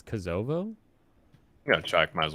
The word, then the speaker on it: Kosovo: think it's pronounced Kosovo. Kosovo? You think it's Kosovo?